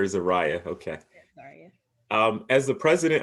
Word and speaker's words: Zaria: sure i have your am i pronouncing your name right yes you are zarya okay i couldn't figure zarya or zariah okay um as the